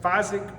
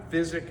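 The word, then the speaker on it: Fizik: seat Ernie how's how's it pronounced is it fisic physic how's the correct pronunciation physique huh physique I have a physique seat on everything I ride.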